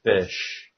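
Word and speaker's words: ghoti: The GH sound in enough is pronounced F, and the O in woman is pronounced with a short I. Oh. And the O in women makes the short I sound, and the T-I in nation is pronounced sh. Then the word G-H-O-T-I is pronounced fish.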